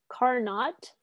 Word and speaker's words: Carnot: carnot principle and by the way it's written car not but it is pronounced carnot so now you know not just